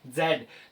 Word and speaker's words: Z: English की बात करें अमेरिकन इंग्लिश में इसको क्या पढ़ा जाता है जी पढ़ा जाता है guys point to be noted it is pronounce ji ए टू जी दोनों सही है। जब हम जेड ओके जब हम ब्रिटिश की बात करें, ब्रिटिश इंग्लिश की बात करें, यूके की बात करें तो क्या है? अह इसका प्रोनाउंसिएशन जेड है। जब हम यूएसए की बात करें, अमेरिकन इंग्लिश की बात करें तो इसका प्रोनाउंसिएशन जी है।